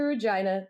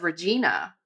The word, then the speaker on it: Regina: Shout out to Regina, the city that rhymes with fun.